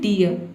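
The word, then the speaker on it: dear: example देखते हैं डियर डी का ड हो जाएगा और डबल ई को हम क्या पढ़ेंगे इय और आर साइलेंट है क्यों क्योंकि आर से पहले इ वोवेल आया है इसलिए ये हो गया आपका डियर डियर मतलब होता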